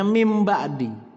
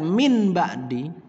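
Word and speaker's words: من بعد: Ketika ada nun sukun atau tanwin bertemu dengan huruf ba, maka dibacanya mim ba'di. Ketika dia dibaca min ba'di, min atau ming ba'di, maka membaca Al-Qur'annya salah.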